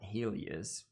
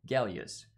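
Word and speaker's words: Гелиос: of the lens here it's clearly not Helius this is Russian this is Cyrillic and I was corrected by a bunch of russian-speaking people that the actual pronunciation of the name of the lenses galius hence galius and what else did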